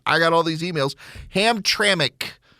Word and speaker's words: Hamtramck: got all these emails ham traic Hamtramck Michigan that's the way you pronounce the name they're all like one